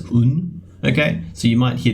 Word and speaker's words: 運: Luck, destiny, you just pronounce it as un.